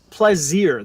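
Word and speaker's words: Plazir: book of Mandalore so the planet plazier that they go to is pronounced like the French word placir for pleasure which makes sense given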